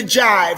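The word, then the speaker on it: gyve: hooked hip to the jive spell g y v e and rhymes with lie from middle english to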